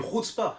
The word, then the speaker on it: chutzpah: Une chutzpah, avec la bonne prononciation.